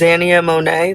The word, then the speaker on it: Xania Monet: I think her name is Zania Monae.